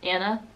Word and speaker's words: Anna: Allah is a pretty common name but it's Anna it's not Anna it's Anna and on Elena that's